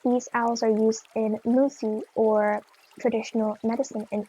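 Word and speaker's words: muthi: In some South African cultures, these owls are used in musi or traditional medicine and it's spelled m u t hi and it's believed to give special powers when consumed.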